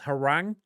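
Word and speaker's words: Hwoarang: Like I'm always and I always mispronounce it. It's Harang is my guy in Tekken.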